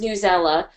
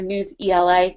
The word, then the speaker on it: Newsela: their most asked question is it pronounced newsela or news ela and it's newsela so happy to say